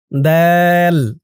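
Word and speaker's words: ضاد: সদ সিন তারপরটা ধরুন দল দল দ আপনারা অনেকে বলেন দুয়াদ সোয়াদ দুয়াদ এরকম করে কিন্তু অনেকেই বলেন বলতে হবে দল মদ দে মদ তো এই দুইটা অক্ষরের উচ্চারণে আপনারা কিভাবে মিস্টেক করেন?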